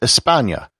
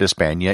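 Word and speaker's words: España: of france was hispania the word for spain in spanish is espana and considering that the letter h is silent in spanish the name of spain today is pretty much the same word that the romans used for the land it is also obviously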